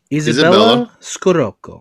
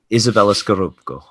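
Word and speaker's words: Izabella Scorupco: Isabella Scorupco. You can do it. Isabella Scorupco. Yeah. Yes. You kind of have to say it like her. Yeah. Like her accent in the film.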